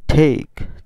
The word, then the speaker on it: take: এটার মধ্যেও এর উচ্চারণ হবে না, উচ্চারণ কি হবে? ঠেক, ঠেক।